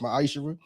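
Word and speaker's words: maaser: You can find this in the book of numbers chapter uh 18 21 in the book of Malachi 3:8-10 means 10th in Hebrew and is pronounced myisher.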